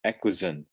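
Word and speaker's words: Equazen: um and they've recently changed the name to equizone e q u a z e n um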